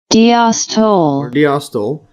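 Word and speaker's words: diastole: See the pronunciation diostyl followed a period of robust contraction and pumping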